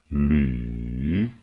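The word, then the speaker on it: 李: Третий тон. Звук, как на качелях, опускается, а потом поднимается. Слива. Ли. Ли.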